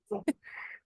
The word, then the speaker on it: Dochgarroch: No, Dochgarroch. as if you're an adder Dochgarroch. spitting it. That's it.